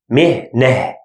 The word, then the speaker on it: مهنة: مهنة, here it's consonant. That's why we pronounce it he. مهنة.